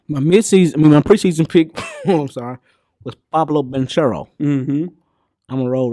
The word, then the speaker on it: Banchero: My preseason pick, was Pablo Banchero. Mm-hmm. I'm gonna roll right back with my midseason pick. Yeah. Pablo Banchero. Just go with P5. I ain't saying it right. It's Pablo. It's Pablo. Banchero. Ah, yeah.